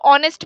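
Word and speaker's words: honest: इस्तेमाल करना है जैसे इसको ऑनेस्ट पढ़ते हैं तो ऑनेस्ट में क्या है ओ यूज करते हैं ए साइलेंट है तो फिर आप एन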